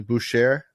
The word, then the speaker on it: Boucher: even know how to say his name properly, Boucher. Bobby Boucher. I think it is Chris Boucher. Chris Boucher. Yeah, it's Boucher.